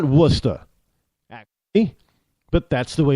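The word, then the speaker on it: Worcester: like wora I mean if you say you know warer or warchest they look at you like you got two heads around here they get kind of mad at you it's wora well it's not wora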